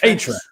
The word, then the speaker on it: Ahrefs: Ahrefs.